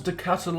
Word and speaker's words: De Ketelaere: released a pre-season transfer D kitalia now hopefully I'm pronouncing that somewhat greatly in fact Let me give the correct pronunciation up now according to the man himself it is Charles de Castle uh I'm just gonna